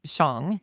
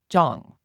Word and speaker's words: Zhang: "It's pronounced many ways. I say Shang. He says more like Zhang."